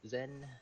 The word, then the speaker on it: SEN: Nova um and we're generally lean towards of pronouncing it as Zen um meaning like you know thoughts absorption or